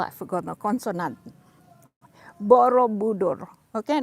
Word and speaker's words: Borobudur: know the temple of borobudur you don't say probador you say borrow budo try to separate the what they call african consonant borobudur okay not borobudur uh